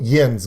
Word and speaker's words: Jens: you there you go yen's got it his name is jens everyone we've got wiz bacca's first name right there you go my name is pronounced yens that's all that matters